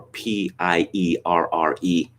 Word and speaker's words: Pierre: learned that what i thought would obviously be pronounced pierre is pronounced pier well we were talking about